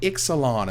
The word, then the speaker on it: Ixalan: The fall set is named Ixalan, and that is how you pronounce it, which I got that guaranteed and got that confirmed.